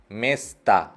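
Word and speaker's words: места: उसके बाद म, ये, स, त, ओ, लास्ट ओ पे स्ट्रेस नहीं है, मेस्ता, मेस्ता।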